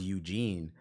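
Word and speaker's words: Yujin: j i n but it's pronounced Eugene like Eugene from Hey Arnold that's crazy with like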